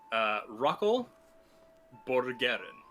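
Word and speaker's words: Rockel Borgaren: Rockel Borgeren. It's spelled like rock, E-L, and then Borg, as in like the Borg from Star Trek, and then A-R-E-N.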